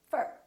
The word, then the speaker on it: for: to talk to you we don't say for we say fur so don't say i'm